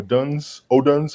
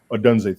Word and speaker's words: Odunze: Rome or Oduns, however you pronounce that, against the 49ers. Odunze, thank you.